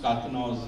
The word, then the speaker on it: Karkinos: Yeah, but I pronounced Karkinos rightly. Yes, Okay. you did.